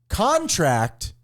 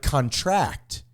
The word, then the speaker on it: contract: So stress on the first syllable indicates a noun, while stress on the last syllable indicates a verb. So example, contract is a noun, but contract is a verb.